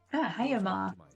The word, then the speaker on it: Haomar: Haomar is how you say that.